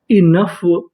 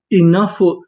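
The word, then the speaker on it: enough: मतलब होता है हंसना ए एन इन यू जी एच फ ओ साइलेंट रहेगा इनफ इनफ इनफ का मतलब होता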